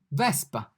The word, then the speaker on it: Vespa: V, vespa. As you can hear, the V sounds exactly as in English. Indeed, it's pronounced like V in volt, volt, V, Vespa.